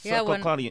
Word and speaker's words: succinylcholine: Succinylcholine? Yeah, succinylcholine.